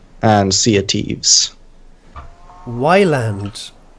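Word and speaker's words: Ylands: Wyland. It's islands. Get it? But it has a Y. It's pronounced island.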